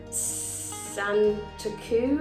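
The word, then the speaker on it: Santoku: knife a utility knife a meat knife uh Santa coo knife and that's how you pronounce it um bread knife and a chef's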